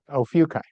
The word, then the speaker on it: Ophiuchi: And it's illuminating the Rio Ophiuchi cloud complex. I know I mispronounced that. Ophiuchi. I've been corrected.